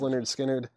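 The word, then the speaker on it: Lynyrd Skynyrd: Low Spark of High Heeled Boys and then Leonard skinnard pronounced Leonard skinnard remember I I explained this one time and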